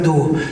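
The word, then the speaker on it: Oô: Au-dessus de Luchon, vous montez 1 heure à pied, vous arrivez à un lac qui s'appelle le lac d'eau. Ça s'écrit OO.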